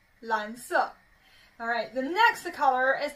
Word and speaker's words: 蓝色: Anyway, 跟我读, 蓝色, 蓝色, 蓝色.